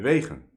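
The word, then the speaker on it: Wegen: Well, that's the Dutch pronunciation because he's Dutch. But maybe you would say vegan or vegan, right?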